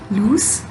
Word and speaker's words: loose: the word lose lwse which ends at the s sound loose this word means when